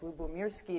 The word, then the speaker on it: Lyubomirsky: Um uh my name is very hard to pronounce so I of I always provide a little pneumonic lubirski. It means love and peace in Russian which I think is very appropriate for what I do.